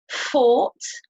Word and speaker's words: fought: So you don't pronounce the G sound at all.